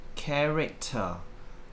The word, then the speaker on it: character: And then we have character. Character. Once again, the first syllable is the stress.